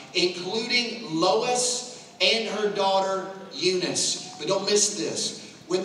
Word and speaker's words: Eunice: Eunice, spelled E-U-N-I-C-E. The N-I-C-E in Greek would phonetically be spelled out or sounded Nike.